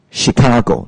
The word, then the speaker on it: Chicago: is c-h-i-c Asia Chicago so it's spelled CH but it's pronounced s h yeah really this always